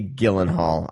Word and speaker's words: Gyllenhaal: I would say Gyllenhaal.